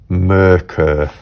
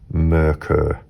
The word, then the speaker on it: Merkur: Like the U in fur. So for here then, it would be Merkur, because that's pronounced as a U. Merkur.